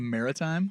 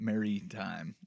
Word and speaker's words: maritime: a biopic but uh mer Maritime not Mary time which is well thank